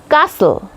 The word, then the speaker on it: castle: कास्टली नो नॉट कास्टली castle castle T silent thumb B silent ब